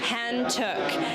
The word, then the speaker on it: Hantiuk: i'm talking here with pronounce your last name for me i always have a problem pronouncing your last name and two hand took and we're here at her show shorelines which